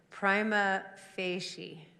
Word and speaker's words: prima facie: heard several different and for consistency it's prima facie i had two years of latin in high school i'm saying i'm pretty close and what are you